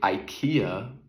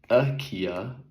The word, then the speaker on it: IKEA: I went to IKEA. AKA actually is how you say it. I learned from the Swedish guy.